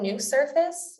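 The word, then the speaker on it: NuSurface: little bit about that the implant is called new surface and that's spelled nu surface it's owned by active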